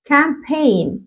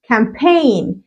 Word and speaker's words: campaign: معنى كده ان الجي والان، الجي متحكمة ولا الان؟ يقعد يفكر يقول لك الان هي اللي اقوى، يبقى الان هي الايه؟ متحكمة. والجي is silent يعني I can't pronounce it، يعني ما بنطقهوش.